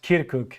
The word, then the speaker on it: Kirkuk: I messed up the pronunciation yes and it's pronounced kirkuk ah there we are hey here to provide